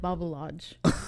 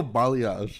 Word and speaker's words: balayage: I always say it wrong, but it's like something like balayage. Oh, balayage.